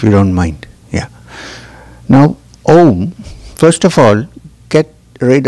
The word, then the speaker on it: Om: So, now, the general description of Om is that it's a three-syllable word with A, U, and M. Om. A, U, and M, which is Om.